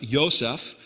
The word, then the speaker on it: Yosef: It's actually spelled Yod Vav Samik Pei, but it's pronounced Yosef.